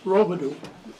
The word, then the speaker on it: Robidoux: My name is Robidoux. Last name is spelled R-O-B-I-D-O-U-X.